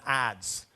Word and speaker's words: adze: An adze. How do you spell that?